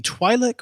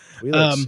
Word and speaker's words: Twi'lek: My number 3 is it depends on how you pronounce it, the Twi'lek or the Twi'leks. Twi'leks, yeah.